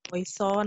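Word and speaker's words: Poisson: Ada yang poison, ada yang poason, ada yang poasong. Nah, Ibu kalau Ibu sih pelafalannya poasong karena dulu dosen Ibu bilang itu adalah ahli statistik dari Prancis. Jadi ada sengaunya poasong gitu. Tapi itu kembali lagi ke kenyamanan masing-masing, boleh pakai poison atau poason.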